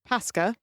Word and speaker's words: paska: So the word pronounced Paska refers to Easter in Polish, but in Finnish means excrement.